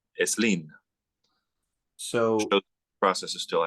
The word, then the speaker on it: Slim: believe whose last name is spelled slim that's pronounced eslin so the process is still active in Spanish